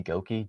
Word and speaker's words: Goeke: Goki. G- OE ke is how you spell that.